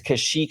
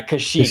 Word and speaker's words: Kashyyyk: Like that would be freaking amazing, Oh, by the way, that Wookiee planet, yeah, it's Kashyyyk. It's spelled kind of weird though. It's Kashyyyyk. Really? It's weird, but yeah, Kashyyyk, that's the Wookiee planet.